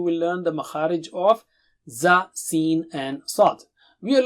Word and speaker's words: زَ: Alright, so how do you say za? Touch the tip of the tongue to the edge of lower teeth and blow with a strong sound.